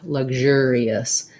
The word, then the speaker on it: luxurious: my voice is on luxurious the ur just says er so we have the er vowel and then we have an e and an us luxurious so i go into